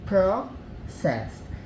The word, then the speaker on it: processed: Então, processed. E aqui é a segunda sílaba tônica, né?